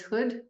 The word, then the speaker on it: Hood: who we are uh my last name is Hood so it's quite easy to pronounce Hood it's nice